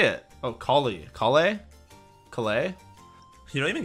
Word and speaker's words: Collei: Oh, Collei.